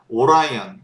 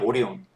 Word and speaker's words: 오리온: 근데 오라이언 이거는 뭐 영어식 발음이니까 오라이언인데 우리식으로 말하면 오리온이에요. 오리온.